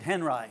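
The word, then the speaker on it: Henri: that Henry or Audrey he pronounced it Henry as far as I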